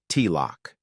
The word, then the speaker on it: Tylok: That's how she saw him, and that's why she offered to be his Tylok, which he pronounced T-lock.